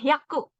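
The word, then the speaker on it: 百: udah beda lagi penyebutannya 100 itu cara bacanya Yaku Nah untuk 101 nih 110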